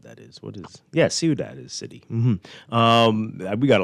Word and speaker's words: ciudad: So so we got a wonderful text from a Spanish teacher saying that is pronounced ciudad, not the kind of Frenchy way I said it.